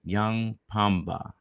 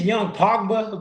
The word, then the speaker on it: Yung Pogba: have a five good minutes with Instagram sensation young Pumba did I say that right sir it's young Pogba but it's it's cool it's a hard name